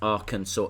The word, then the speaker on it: Arkansas: No, it's spelt Arkansas, but pronounced Arkansas.